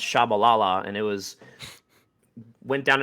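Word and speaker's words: Tshabalala: from a player and who's pronounced shabalala and it was went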